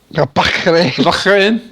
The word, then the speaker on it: Bahrain: Bahrain? Bahrain. That's how they pronounce it.